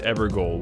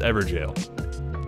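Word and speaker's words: Evergaol: until you reach this ever goal which is apparently pronounced ever jail talk to the golden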